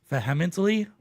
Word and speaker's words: vehemently: The H is silent.